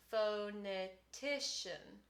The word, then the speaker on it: phonetician: in the word phonetician where is the primary stress phonetician for me it's on t so i'm going to